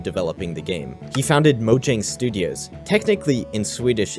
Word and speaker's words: Mojang: He founded Mojang Studios. Technically, in Swedish, it's pronounced Mojang, but we do not care.